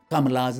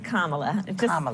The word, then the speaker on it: Kamala: it difficult to pronounce kamala's name correctly Harris's first name is pronounced Kamala it's arrived from Sanskrit her mother was born